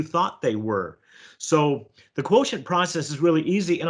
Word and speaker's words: QTNT: in the book it's spelled q tnt it's pronounced quotient and it's a that's a it's a trademark